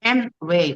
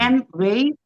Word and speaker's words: Amway: 근데 아메이라는 우리가 아메이라 부르는데 영어로 할 때는 M으로 발음해요.